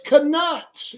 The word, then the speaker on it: Knuts: It's Knuts, you stupid idiot. Knuttz. Knuts. The K is silent, asshole.